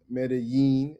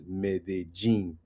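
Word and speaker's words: Medellín: A lot of people like to pronounce Medí, and I was one of these people. Medí. Medí, right? Which is the double L that we learn in school, right? The the the Mexican Spanish or whatever the the span the Spain Spanish, right? Medí. The the Colombian pronunciation of Medí is medin.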